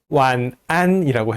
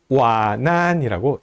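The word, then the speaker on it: wǎn'ān: 아니면 그냥 듣고 발음하면서 완안이라고 해야 되는데 와난이라고 연음시켜서 우리말의 연음 법칙이 적용된 것처럼 이렇게 연음해서 발음하는 사람들이 종종 있습니다. 와난이라고 하면 안 되고요. 완안이라고 해야 됩니다.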